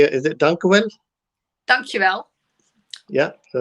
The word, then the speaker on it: dankjewel: How do you say, is it dankjewel?